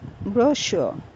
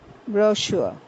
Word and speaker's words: brochure: u r e is pronounced in British English as brochure and it refers to